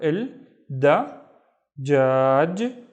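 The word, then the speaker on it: الدجاج: Yalla, we have il, which means the, remember, il, da, jaj, il dajaj, which means the chicken.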